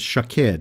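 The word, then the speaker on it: שָׁקֵד: word for almond is shaked and the Hebrew word for watch is show ked these words sounds similar and in the Hebrew they are spelt the same just pronounced a bit differently just like in the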